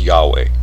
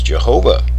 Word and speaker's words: Yahweh: of yahuwah or yahweh at the reformation the former being the more usual was sometimes used as the name of the mighty one of israel and owing to ignorance of its history was misread as jehovah a form which has established itself in english but does not give the pronunciation of the holy name it represents wow imagine that what